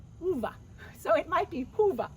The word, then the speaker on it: Ove: his name Hove, but if you've ever read the book, A Man Called Ove, it's not Ove, it's Uva.